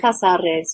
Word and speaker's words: Casares: Is it Casares, your village? That's it. Pronounced very well. It is Casares, yes.